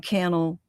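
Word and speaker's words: Kanel: When I first of all, the great Sean Kel, uh his last name Canel rhymes with channel.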